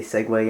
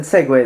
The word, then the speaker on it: segue: So I figured we could maybe segue into. Notice I said segue this time. I received some flack for shortening my pronunciation of the word to just seg before.